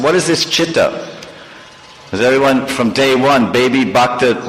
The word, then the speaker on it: chitta: first word of that prayer is what means chitta CH sometimes they spell it that but c-h-i-t-t-a or C which means